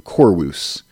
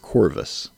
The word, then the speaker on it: Corvus: we do know that the V shape like we see the word Corvis there on the screen that would have been pronounced a little more softly we think with the ancient Romans so they would have said something a little more similar to chorus instead of Corvus so I have studied